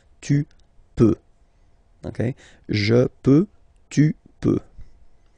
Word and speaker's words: peux: Then tu peux, same pronunciation and same spelling or writing. Okay, P-E-U-X. Okay, don't pronounce the final X. Tu peux.